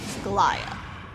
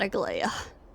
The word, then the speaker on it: Aglaea: meet with the GLA if I remember correctly Gia that's how it's pronounced not a gla got to remember that H little bit laggy